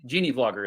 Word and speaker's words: GeneaVlogger: YouTube channel is uh called Genie vlogger Gina vlogger Genie Genie vlogger is how you pronounce it yes and he reached